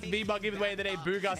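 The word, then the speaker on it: Bugha: Booga spelled like his actual name though. B U G H A B.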